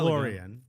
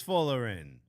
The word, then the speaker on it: Folarin: Florian? Folarin? Folarin? It's not Florian, I know that.